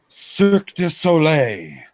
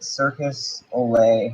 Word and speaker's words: Cirque du Soleil: Can you please just pronounce it? Cirque du Soleil Thank you. in Disney World. Oui, oui. Walt Disney has partnered with Circus Olay to No.